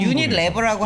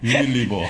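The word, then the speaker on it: Unilever: 우리는 유니 레버라고 예. 하는데 이제 서양 애들은 유니 리버라고 하더라고요. 예. 유니 리버.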